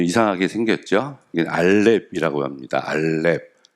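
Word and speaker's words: א: 읽어보면은 이건 알렙이라고 읽습니다. 가는 걸 했는데 알렙.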